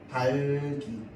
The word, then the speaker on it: 닭이: 자, 그러면 발음이 달기 이렇게 되겠지? 맞죠?